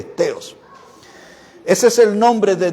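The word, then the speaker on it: θεός: la palabra para Dios se pronuncia feos pero se escribe con t teos Ese es el nombre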